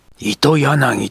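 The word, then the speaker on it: 青柳: 表紙に、青柳恋のおだまきという題箋が貼ってあった。糸柳と読むんだそうだ、と幾田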